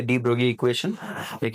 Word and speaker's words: de Broglie: हम गलत हैं। उच्चारण करें। डी ब्रोगली, यह दरअसल डी ब्रोगली समीकरण। सही। वहाँ है? जीएलआई का इसका उच्चारण नहीं किया जाता है।